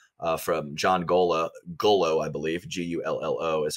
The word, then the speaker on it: Gullo: Gullo is how you say it.